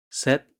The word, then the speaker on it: 셋: Set sounds like set, but with a gentle and smoother S sound, similar to send.